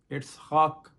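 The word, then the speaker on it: יצחק: سے کوئی نہیں ہے, کیونکہ ہبرو میں جو حضرت اسحاق کے لیے ورڈ آیا ہے وہ آیا ہے اٹسکاک. اٹسخاک, یہ تلفظ ذرا سا مشکل ہے.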